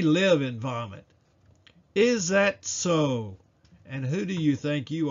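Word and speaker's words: צֹאָה: The last Hebrew word we will discuss in this video is Strong's number 6674, pronounced so and spelled T-S-O.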